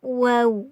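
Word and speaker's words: و: vagini web kwe ini mirip seperti kita mengucapkan mengucapkan huruf Va tapi di bibir bagian bawah ini enggak sampai menyentuh bagian atas wua-wua Iya gua gua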